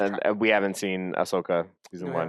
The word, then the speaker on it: Ahsoka: Ashoka season 2 also coming back. Ahsoka. What Ashoka? Ahsoka. You're saying The H? The H is the H is silent.